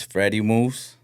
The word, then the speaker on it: Fred E Mooves: Well, my name is Freddy Moose. Fred E moves. I remember you pronounc it to me like that before. Yeah, but it's it's just a clever way of me spelling it. But it's Freddy.